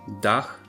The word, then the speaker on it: dach: it's always pronounced so DH is pronounced with a nice audible H at the end finally we have these